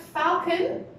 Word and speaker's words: falcon: Falcon is a noun and it has 2 syllables. The stress is on the falcon. Okay, so the stress would be on the first part. Falcon. Right.